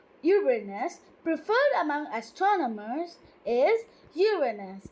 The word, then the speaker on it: Uranus: The pronunciation of the name Uranus, preferred among astronomers, is Uranus, with stress on the first syllable, as in Latin Uranus, in contrast to Uranus, with stress on the second syllable and a long A.